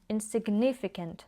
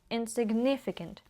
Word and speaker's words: insignificant: Навіть вимові зверніть увагу, insignificant, тобто а я то виділила in, да, якби як наче на нього наголос поставила, але взагалі воно вимовляється так, що інтонація оця in, вона йде вниз. insignificant. insignificant. Значить, порівняв незначну white washed white wased.